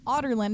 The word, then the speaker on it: Adarlan: The other slave camp that Adarland runs is um the the kingdom of Adarlin has out Otterland is how I always say it's differently. Otterland is how they pronounce it.